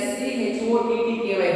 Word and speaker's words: Schottky: So spelling is SCHOTTKY, but pronunciation is Schottky defects.